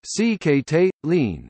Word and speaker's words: Sikhote-Alin: The Sikhote-Alin, Russian, Sikhote-Alin, Russian pronunciation, SXTLN, English, Sikhote-Alin, is a mountain range in Primorsky and Khabarovsk